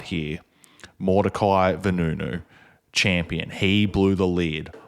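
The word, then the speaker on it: Mordecai Vanunu: Mordecai Menunun. I don't know if I'm pronouncing that name right, but he was the great whistleblower on this.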